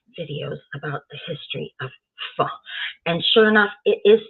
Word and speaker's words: pho: It's pronounced pho, as if you were going to say pho, and your mother stopped you quick. So you only got the pho out, okay? So Lynne was right.